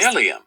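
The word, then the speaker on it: bdellium: I looked it up my brothers s sisters delium that's how it's pronounced delium because my tongue is terrible when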